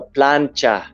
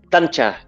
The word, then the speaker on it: plancha: It's called a plancha, but I would pronounce it like tancha.